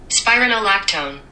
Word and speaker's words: spironolactone: pronounce things well, but I think it's pronounced spironolactone? I don't know. I should ask Google actually. Let's see what Google says. Spironolactone. Spironolactone, I was right.